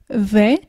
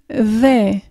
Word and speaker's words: they: Pour bien prononcer le they, c'est comme si tu faisais un Z en zozotant. Donc tu mets ta langue entre les dents et tu dis they, they.